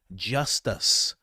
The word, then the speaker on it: Justus: Oh, his name is Justus Smith. I'm not mispronouncing that. It is just the word just and us Smith.